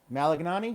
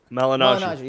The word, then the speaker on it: Malignaggi: Malignani? Is that how you say it? Malignaggi, yeah.